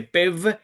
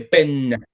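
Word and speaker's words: פֶּן: Entonces ahí no dice pev, sino dice pen.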